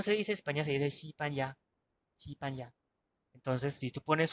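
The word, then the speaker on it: 西班牙: España se dice Sipanya, Sipanya.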